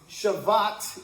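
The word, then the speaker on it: שבת: The end of the word in Hebrew has more emphasis, more oomph to it. So, Shabbat or, you know, Shabbat or uh you guys are all students.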